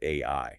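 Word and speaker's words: 愛: In human linguistics, 13 is the exact number of strokes required to write the Japanese kanji for love, which is pronounced AI.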